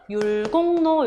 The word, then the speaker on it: 율곡로: 율곡로가 뭐냐면 발음을 하면 율곡로 한자어 뒤에 리을이 니은으로 발음 나서 비음화가 일어나죠. 그래서 원래 발음은 율곡로 이렇게 되는 게 맞죠.